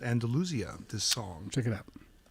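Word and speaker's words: Andalucía: is a track called andalusia andalusia and actually is pronounced andalucia yes if you're if you're from spain yes well um it's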